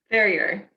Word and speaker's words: Ferrier: Ferrier. Kind of like the dog terrier with an F.